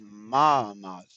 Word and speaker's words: Muhammad: Manish, Mamad, and I didn't know it was Muhammad.